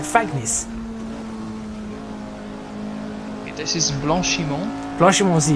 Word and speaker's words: Fagnes: Fanya, yes, in French, yeah. Yeah, Fanya is how we would pronounce that then. Well, that seems right to me. At least that's how we pronounce it, because we know it's not English. If it was an English word, we'll probably pronounce it Fagnis.